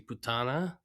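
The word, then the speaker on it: puttana: So the first thing is the word for whore is actually putana. Okay, so I mispronounced it.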